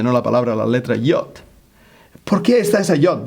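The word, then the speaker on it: יוד: Es una palabra, se pronuncia como la Y, la palabra yom, es la palabra yod. Es la letra, perdonadme, no la palabra, la letra yod.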